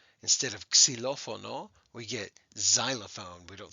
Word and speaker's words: xylophone: probably already know this the x is often pronounced as a z so instead of cilophono we get xylophone we don't say xylophone